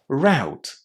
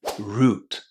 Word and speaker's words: route: The only way you can say this word in British English is to pronounce it as root exactly in the same way as the root of a tree. Root. In American English, you can also say route. But the international pronunciation of this word is going to be root with a long oo.